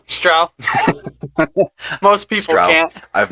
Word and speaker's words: Strough: pronounce it as Strough. It's like, no, Yeah. it's Strough.